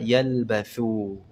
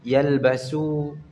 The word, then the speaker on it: يلبثوا: Ada satu yang luput lagi, kata yalbathu. Ya, ini juga perlu dijadikan catatan, jangan sampai fa-nya berubah menjadi sin, yalbasu. Karena yalbathu dan yalbasu itu dua kata yang berbeda, ya.